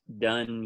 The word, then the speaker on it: Dunne: So Dunne is spelled Dunne.